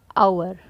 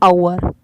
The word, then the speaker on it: hour: 12th, an hour. Here H is silent, so the sound is hour.